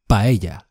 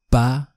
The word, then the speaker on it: paella: Well, paella. Pa-e-ya. The double L is like a y.